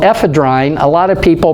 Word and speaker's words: ephedrine: of people pronounce it ephedrine but if you remember your grammar if you have an e at the end of the word with a consonant in front of that and then a vowel you pronounce it f